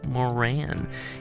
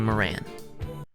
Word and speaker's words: Moran: It's Moran, but I was just in Ireland. They say Moran there, which always feels kind of weird, like going back to the place where the name comes from and saying it wrong.